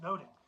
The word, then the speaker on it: nothing: Nunnery was slang for a brothel, or nothing, sometimes pronounced noting, which was slang for female genitalia.